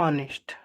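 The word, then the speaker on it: honest: ठीक है, अब ऑनेस्ट के साथ हमेशा क्या होता है दोस्तों, एन का ही यूज होता है, क्योंकि यह साइलेंट होता है, इसको बोलते हैं ऑनेस्ट।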